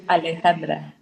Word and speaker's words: Alejandra: Alejandra. Alejandra. Oh, it's spelled different.